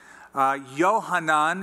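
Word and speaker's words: יוחנן: Yohanan is the Hebrew pronunciation.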